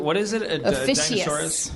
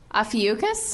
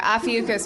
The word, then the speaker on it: Ophiuchus: Officius. Officius? That's Pisces. Am I pronouncing it wrong? What is it? Ophiuchus? I know, right? Adam Goldberg to the rescue. Is it Ophiuchus? Yep. Okay, Ophiuchus, which is November 29th